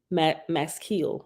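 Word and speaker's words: maskiyl: be called must kill m-a-s-k-i-y-l Max Keel I think that's how you pronounce it a student who completes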